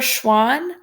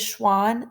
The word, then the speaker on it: Schwann: looked like animals theodore schwann he actually said that all animals are made up of cells and i remember that because schwann sounds like swan which is an animal